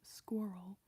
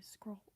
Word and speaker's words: squirrel: I heard from one British friend they were complaining about the way that I say squirrel. Because apparently I don't pronounce the vowels enough. Like, they might say, like, squirrel, and I just say scroll, you know? Like, the vowels aren't quite there.